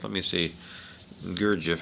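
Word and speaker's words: Gurdjieff: his grandson by the armenian mystic george um gurjev g u ah no gerd jeff let me see gurgif how do you spell it g u r d g i e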